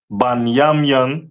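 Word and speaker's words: בנימין: Um, the tribe of Benjamin is uh the West Indians and is pronounced banyamian in the Hebrew.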